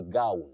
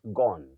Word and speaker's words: gown: Now the other word for you Jere you say gown gown an academic gown not gone gone from go is g o n e but g o w n you say a gown